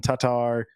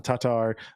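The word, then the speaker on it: Tattar: yeah so it's uh that two A's in Tatar are pronounced differently apparently so oh yeah and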